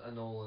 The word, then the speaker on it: anole: Anil and I know I know yeah yeah well in the lizard world anole is pronouncing oh okay I stand